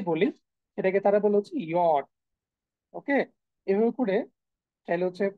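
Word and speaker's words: Jot: তবে এখানে একটু উচ্চারণের বেশ কম আছে, সেটা হচ্ছে, দেখ আমরা ইয়ট বলি ঠিক আছে, বাট এটা যে উচ্চারণটা, হ্যাঁ আমরা যখন উচ্চারণ হচ্ছে অনেকটা ইউজ করি, সেটা হচ্ছে ওয়াই এর মতো হয়ে যায় অনেকটা।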